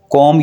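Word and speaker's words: comb: अपने बाल कंघी करो कॉम यर हेयर यहां पर आपने बी को साइलेंट करना है और इस वर्ड को आपने पढ़ना है कॉम कॉम यर हेयर अपने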